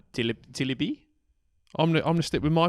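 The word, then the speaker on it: Tébily: Tebele. It's got an accent on the E. It would be more Tilibi.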